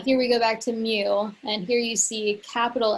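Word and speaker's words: μ: now here we have this greek symbol it's pronounced mu and it's the mean of all values in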